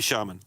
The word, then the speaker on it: shaman: And both Shaman and Shaman are correct, accepted pronunciations of the word. No, they're both correct, but we only accept one. The pronunciation shaman is listed first in the dictionary.